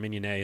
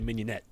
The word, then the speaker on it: mignonette: really good mignonette basically from minion a is how it's pronounced in French okay but nobody today that's good New Yorkers a mignonette basically shallots and red